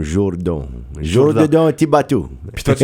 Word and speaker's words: Jourdan: Tout le monde croit que c'est Jordan, J-O-R, mais c'est écrit comme Jourdan.